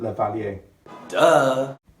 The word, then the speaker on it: lavalier: them lavalier mics and the word is French so that's how I pronounce it Laval you duh basically it's a pin